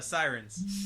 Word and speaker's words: Seirines: your band name correctly close it's a Sirens Sirens yeah yeah yeah yeah well